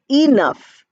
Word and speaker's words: enough: you have 11 or when you have enough we write e and we pronounce it as I we don't say 11 we don't say enough we say enough we say 11 so that e sound comes at the beginning then you have the sir